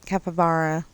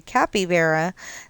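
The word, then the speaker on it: capybara: Some people say capabra, some people say capabara. I think it's a tomato tomato thing. Um or they just don't know how to say it. Um there's a whole bunch of people who say capy vera. That's not how you say it. Or capy bar. That's not how you say it. Um it's capabar.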